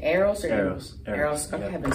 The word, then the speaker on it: Eros: Eros.